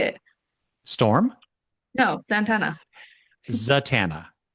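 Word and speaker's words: Zatanna: Zatana. Zatana. I don't know why I've always said it Zantana.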